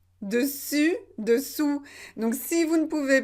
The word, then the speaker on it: dessous: difficile peut-être pour vous vous devez bien prononcer u et pas où une ou d'ong pourquoi c'est important et pourquoi j'insiste sur ça et bien c'est parce qu'il faut faire la différence entre dessus et dessous dessus dessous donc si